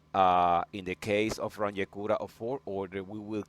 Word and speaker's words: Runge-Kutta: Today, we're going to discuss a little bit uh the Runge-Kutta numerical method. Some people pronounce Runge-Kutta, others pronounce Runge-Kutta, and other pronounce Runge-Kutta.